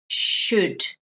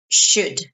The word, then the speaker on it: should: anunciacion very important is should not shalt know so the L is silent that o is silent its should this long is a